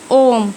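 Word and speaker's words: homme: لان هي سايلنت طيبم اوم اوم اوم اوم دي يعني رجل الاتش لما بتيجي في اول الكلمه بتبقى سايلنت اوم اوم ما نطقتش الاتش او الاش باللغه الفرنسيه طيب تاني حاجه عندي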